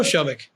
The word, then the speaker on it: Shomik: nice to be here first time someone's nailed my pronunciation I've I've Americanized my name to my own shame but what you just did is you did it right hey man I've been